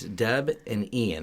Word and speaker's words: Debian: It's not Debian. it's Deb and Ian. That's where the name comes from.